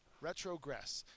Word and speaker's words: retrogress: to see but um retrogress it's a a verb the third syllable is accented and it means to